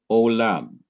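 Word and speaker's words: עולם: Here is another word, olam, ayin, kolem, lameth, kames, mem, olam, means a long time or all time. Now, the first syllable is ayin and kolem. That's O. And the second syllable is lam.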